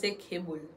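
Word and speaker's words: 개불: Il écrit G-A-E-B-U-L, mais il prononce Kebul.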